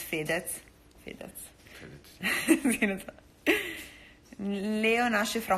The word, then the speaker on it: Fedez: How do you pronounce his name? Federico. Fedez. Federico. Fedez. Like Fedez. In America we say Fedez, but it's Fedez.